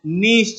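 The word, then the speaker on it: gneiss: ऐसे लिखते हैं इसे। जी इसका साइलेंट होता है। जी इसका चुप होता है। और इसको पढ़ते क्या हैं? नीश चट्टान।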